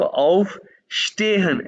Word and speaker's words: aufstehen: ये वर्ड देखो ऑफ स्टेहन एस टी शीन के बाद बार बार मैं कह रहा हूँ pronunciation is very important in German language.